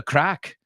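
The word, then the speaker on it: craic: what's CRA the Irish the Irish say what's the crack what's the crack what's the crack but what if you're a drug addict is that a good thing to say for them well they spell it c r a i c c yeah true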